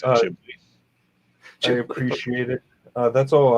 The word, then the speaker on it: Ghibli: You pronounce it Ghibli.